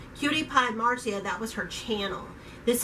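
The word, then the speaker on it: CutiePieMarzia: I said cutie-pies Marcia it's not cutie Pie's marks it's cutie pie Marcia that was her channel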